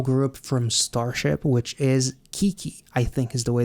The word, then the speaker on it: KiiiKiii: We are checking out the highly requested, highly suggested new girl group from Starship, which is Kiki, I think is the way that I'm supposed to pronounce this group's name.